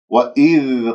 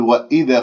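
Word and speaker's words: وَإِذْ: وإذ قال ربك للملائكة، وإذ هنا لابد أن أبين كسرة الهمزة والذال ساكنة، يجب أن لا أقلقلها أقول وإذا قال، هذا خطأ، يجب أن يجري فيها الصوت فهي رخوة. وإذ قال هكذا بهذه الطريقة، القاف مفتوحة بعدها ألف،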